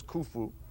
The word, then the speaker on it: Khufu: The great one, of course, the king of the fourth dynasty, his name was Khufu, sometimes in Greek called Cheops, and sometimes mispronounced in English Cheops.